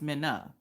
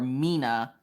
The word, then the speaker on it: Minna: I'm like, but it's Minna. Like a minnow fish. No, Papa, not like a minnow fish. Like a minnow fish. It's not like a minnow. It's her name is Minna. And now don't mispronounce her name. If you mispronounce Minna's name, she is quick to be like, hey, nah, look, listen. My name is Minna, not Minnow or Mina.